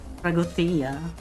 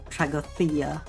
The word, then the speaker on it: Τραγωδία: Um I got Tra um Tragothea. Um that's how you pronounce it apparently because uh because Fis is like a Greek guy and you pronounce it with like a Tragothea or something.